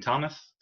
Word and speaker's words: Thomas: for instance my name thomas has a h in it but i'm not going to put it in there because you don't pronounce the h in thomas so you have to